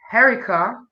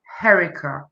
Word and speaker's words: Herricia: name well of course my name is pronounced herica but i'm from the caribbean specifically jamaica and it's spelt harishia by is pronounced herica thank you i uh